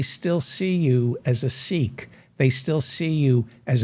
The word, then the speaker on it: Sikh: It's pronounced Sikh among the Punjabis. So but we'll call you Sikh for the American audience, that you were born